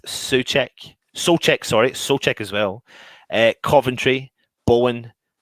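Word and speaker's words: Souček: on the left su check so check sorry soul check as well uh coventry bowen on the right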